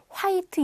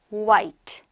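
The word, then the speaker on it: white: 발음은 후후후 파 아니고요 h 발음 없습니다 빼세요 깔끔하게 oi 크리스마스 y 시작 오바이트 예 하얀색 흰색은 영어로 화이트 이제 아니구요 뭐라고요 음 와이트 와이트 와이트 그래서 y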